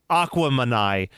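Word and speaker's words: Aquemini: Or Aquamanai, pronounced to rhyme with Gemini because it's a mix of Big Boy being Aquarius and Andre being Gemini.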